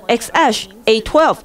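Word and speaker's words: X Æ A-12: It's pronounced cat running across the keyboard. 但其实要念成 X Ash A 12。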